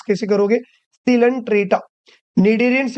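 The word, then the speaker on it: Coelenterata: इज सिलेंट्रेटा इसको कैसे read करोगे या फिर प्रोनाउंस कैसे करोगे सिलेंट्रेटा निडेरियंस या फिर सिलेंट्रेटा समझ में आ गया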